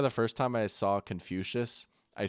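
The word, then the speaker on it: Confucius: Like I remember the first time I saw Confucious I said confiscus.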